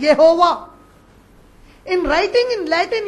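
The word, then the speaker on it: Jehovah: टू the Latin language J कैन नॉट be pronounce as English J इट हैज टू be pronounced as वाई in writing in Latin you will write it एज जे ई एच ओ वी ए एच बट in Latin while pronounce it you will pronounce it एज यहोवा in writing in Latin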